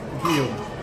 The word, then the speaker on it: Guillaume: Guillaume. Guillaume? Guillaume. How do you spell it?